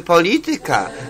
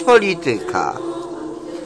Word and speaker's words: polityka: No to więc, jeżeli mówimy matematyka, to nie możemy mówić matematyka. Jeżeli mówimy polityka, to nie możemy mówić polityka. Bo akcent kładzie się na trzeciej sylabie od końca, na trzecią, tak.